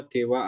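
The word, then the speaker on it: では: dewaeng juga bisa ya perhatian eh ha dari DH diucapkan wa ya jadi dewa dewa H untuk pengingat lagi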